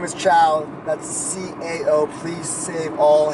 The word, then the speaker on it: Cao: night what's going on world my name is chow that's CAO please save all hangover movies jokes